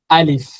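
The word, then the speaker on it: ألف: Alif. Its sound will be alif, alif. But when you put any harakat like fatha, dhamma, kasra, its sound will be very different. Okay. Alif, alif.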